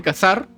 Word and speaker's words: cazar: en Sudamérica no decir cazar con z no decimos como en España cazar lo pronunciamos cazar y prácticamente lo pronunciamos igual pero sin Z con s con s la pronunciación es con s no sí sí no